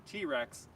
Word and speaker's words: TRX: But here I'm going to answer your questions about the 2021 Ram 1500 TRX, and TRX is spelled TRX, but Ram refers to it as the T-Rex, a clear dig at the Ford F-150 Raptor.